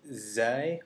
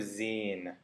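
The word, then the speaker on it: ز: The next letter we have is zay or zin. It can be pronounced either way.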